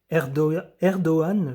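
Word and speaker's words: Erdoğan: Je vais essayer Redchet Taib Erdoan, je crois qu'on ne prononce pas le G qu'on dit Erdogan.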